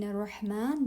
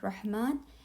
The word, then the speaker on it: رحمن: In Rahman, the word Rahman and Rahim, both ha. Try to make it very clear.